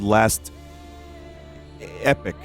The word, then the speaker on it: Last Epoch: this is a game called last epic and no I don't like pronouncing it like that however epic Google told me that's what I have to say so welcome uh it's